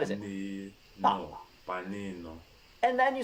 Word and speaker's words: panino: Panino. And then you said na, ne, ni, no, nu. So let's pronounce Pa, ni, ni.